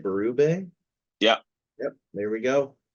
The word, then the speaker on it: Berube: duties uh we have Mr Craig am I pronouncing this right baru yeah yep there we go baru as the new head coach of the Toronto